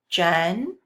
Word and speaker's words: gentle: know that my G is going to make the J sound because there's an E right next to it. And now I read my word, Jen. My second part, I know that the E is silent, so I read the second part, tul, and I put my word together, gentle, gentle.